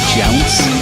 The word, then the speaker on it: Jounce: Jounce. Can you spell that? Jounc. It's kind of like bounce, but with a J.